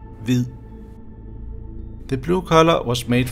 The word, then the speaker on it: hvid: In Old Norse, white is pronounced hvitja, and in Danish it is pronounced hvid.